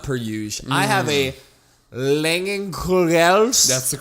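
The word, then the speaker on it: Leinenkugel's: I have a Langenkugels. That's the correct pronunciation. Langenkugels.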